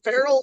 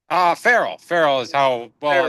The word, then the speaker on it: Farrell: But Is it Ferrell or is it Farrell? Farrell is Ferrell. how I pronounce it, Yeah. but either pronunciation is correct.